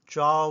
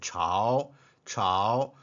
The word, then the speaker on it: 朝: This character has another pronunciation, 朝, 朝.